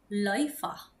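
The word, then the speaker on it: Läufer: Nah, kemudian nih ini bukan lauver ya teman-teman, dia adalah e pelari ya. Pelari itu dibacanya gimana? Bacanya adalah loifah kalau aku.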